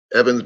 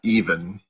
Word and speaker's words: Evan: It's Evan, not even.